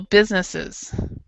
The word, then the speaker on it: businesses: add the es and so a lot of people um will pronounce this well they'll read it and they'll think we can't businesses that's that doesn't sound right so they actually just skip this es they they swallow it in their pronunciation and possibly because of their first language or I'm not sure sure why so so they'll say business but they won't say this part so business as so